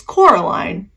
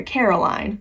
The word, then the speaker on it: Coraline: coming up so much it's Coraline but a lot of people call her Caroline you won't see it